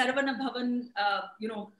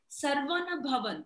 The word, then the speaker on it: Saravana Bhavan: They pronounce it funnily. They say Saravana Bhavan. It's Saravana Bhavan. Saravana Bhavan.